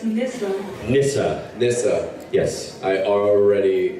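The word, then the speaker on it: Nisa: N-I-S-A. How do you spell it? Nyssa. It's a difficult one. Wow, I wouldn't have. It's not that difficult. It's difficult for Nissa. some.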